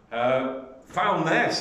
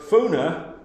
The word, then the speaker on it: Foulness: Foulness, as it's spelt on the map, but Foulness, as it should be called, I know because